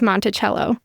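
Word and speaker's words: Monticello: on the needles you could also stay in Montello which is right down there not Montello by the way that's a Utah pronunciation is Montell know cuz cu the house is monello Oh Thomas Jefferson but the town in Utah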